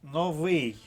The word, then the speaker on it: новий: а курятина аркушик тулуб але новий в останньому слові наголос падає на другий склад а значить Варіант А